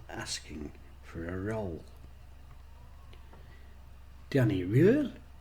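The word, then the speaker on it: Röhl: Now drop half the R. How to drop half a letter? Can't even pronounce my R's anyway, never mind half of one. Once you have dropped half the R, it should give the EARL or UL more of a guttural sound. Danny Real.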